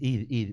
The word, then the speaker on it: Hid: Id. Bueno, viste que algunos por allí pronuncian la H, otros no.